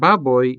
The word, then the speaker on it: baboy: Our diphthong in this word baboy is oi, which is a part of the final syllable, boy.